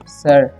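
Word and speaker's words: sir: Okay, अब वो सर से क्या बोलता है, देखिए लेट्स गो सर, सिर नहीं पढ़ना है। ठीक है, आई का उच्चारण यहाँ पर अ होता है।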